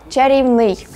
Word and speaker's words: чарівний: Ви, напевне, помічали таку тенденцію, що більшість проблемних прикметників має наголос на закінчення. Новий, низький, тонкий, черговий, житловий, кам'яний, терпкий, добовий, хутряний, товстий, пільговий, перехідний і навіть фаховий. То користуйтеся цим правилом і для слова «чарівний».